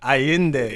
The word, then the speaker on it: Allende: Carlos Miguel Yeah, Allende. because it's Carlos Miguel and then Allende.